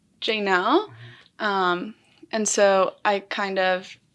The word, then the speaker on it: Jaynelle: I think growing up, people really struggled to say Jaynelle. And so I kind of accommodated it to make it easier for people. But I actually do prefer the Spanish pronunciation that you just did, Jaynelle.